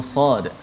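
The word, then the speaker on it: صٓ: Sebab kita tak baca barisnya, kita baca nama huruf tersebut.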